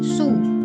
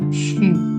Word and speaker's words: 许: Ini bacanya bukan su, xu bacanya bukan su, tapi kayak cu tadi. U di sini kita bacanya tuh kayak u.2. U.2 itu bacanya gimana? Kayak kita ngomong huruf I tapi manyun. Oke? Nah, jadi kalau XU bacanya adalah seperti ngomong si tapi manyun. Shu. Mulutnya manyun. Oke?